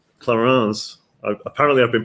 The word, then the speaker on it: Clarins: rooms as well the toiletries are all not clarins clarins apparently i've been pronouncing it wrong i've been pronouncing it wrong